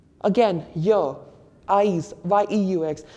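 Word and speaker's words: yeux: Again, Y, eyes, Y-E-U-X. Are we saying it as Y, something like that? No, we are not. We are simply saying Y.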